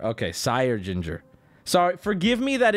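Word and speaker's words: Syr: Get, you're just spelling it? Just tell me. Sire. Oh, Sire. It's Sire. Okay, Sire Ginger.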